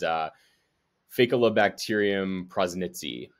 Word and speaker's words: Faecalibacterium prausnitzii: So first of all, as you can probably tell by now, it's a little bit difficult to pronounce. It is Faecalibacterium Prausnitzii, or some people call it F.